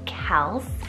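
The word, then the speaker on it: Kelc: Kels for the boys' side, K-E-L-C, Kels.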